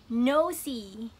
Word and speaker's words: nosy: นี้ คือ คำ ว่า noy noy เอิ่ม ตัว s นะ คะ จะ ออก เสียง เหมือน ตัว z หรือ ว่า zebra นั่น เอง ค่ะ no นะ คะ